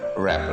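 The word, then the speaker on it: wrap: तो हमारा पहला वर्ड है क्या है यहाँ पे, रैप।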